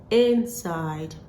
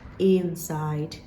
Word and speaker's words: inside: short vowel sound it so this word is pronounced inside not inside on my list again I have the word